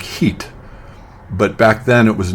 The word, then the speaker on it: Hit: Uh, it's spelled HIT, and it's pronounced in Arabic heat.